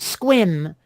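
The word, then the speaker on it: Sequim: at something it's it's it's pronounced squin you'd think s-q-u-i-n instead of s-e-q-u-i-m yeah again on the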